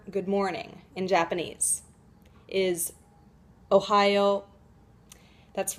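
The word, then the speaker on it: おはよう: morning in japanese is ohio that's right it's pronounced just like the state so just try saying the word ohio as if you were saying hello ohio all right now you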